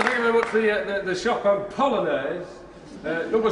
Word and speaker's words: Polonaise: I can't remember, but I know it rhymes with Bolognese. So, I'm good, aren't I? It's a wonder vaudeville died. Ladies and gentlemen, Scripps! Thank you very much for the Chopin Polonaise, number 6 in A-flat.